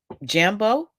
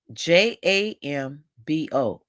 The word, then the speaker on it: Jambo: trip greet the locals in kiswahili with a Jambu huh oh jumbo Jambo I'll spell it j-a-m-b-o so Jambo and if you say Jambo to